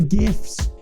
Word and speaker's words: GIF: thing that shows up gif with a hard G wow that really sure